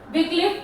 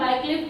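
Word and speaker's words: Wycliffe: देखिए, followers of वाइक्लिफ, इनको विक्लिफ भी बोलते हैं कुछ लोग एंड वाइक्लिफ भी बोलते हैं।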